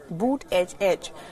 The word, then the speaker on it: Buttigieg: get one thing right how to pronounce his name boot edge edge Donald Trump went as